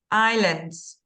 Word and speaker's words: Islands: purposes voted and Islands we don't pronounce the s in Islands Islands okay um none can